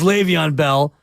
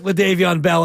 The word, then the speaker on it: Le'Veon: the lead back and I pronounce it that way because that's how my son Quest would he thought his name was leavon Bell it's Le'Veon Bell but and he took leavon Bell and he won the